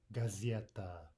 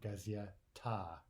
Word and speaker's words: газета: They all sounded like right? As in gazeta, gazeta, and not gazieta, right?